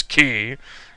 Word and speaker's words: Quay: like Quay which is actually pronounce key and then there's JL